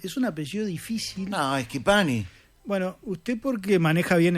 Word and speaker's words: Schipani: No, Schipani. Bueno, usted porque maneja bien el léxico, Porque Claro. Pues es italiano. la CH en italiano se pronuncia como una K.